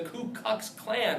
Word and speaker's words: Ku Klux Klan: first terrorist organization, the Ku Klux Klan, right? Don't mispronounce that or misspell it. You'll sound like an idiot. Ku, K-U, Klux Klan, not the Klu Klux Klan.